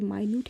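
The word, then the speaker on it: minute: लेकिन यहाँ पे माइन्यूट है, इसका मतलब होता है लेस अमाउंट।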